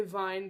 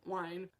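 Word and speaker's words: Wein: The first book is Codename Verity by Elizabeth, I want to say Vine because that's how you say it in German, but Wine.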